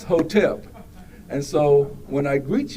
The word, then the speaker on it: hotep: to Simply say hotep I'm going to spell it it's h o t p i don't want you to saying Hotel it's hotep and so when I